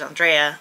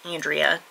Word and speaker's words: Andrea: but they give the Spanish pronunciation, which is Andrea or Andrea or Andrea, all of which are not how you say my name. It's Andrea.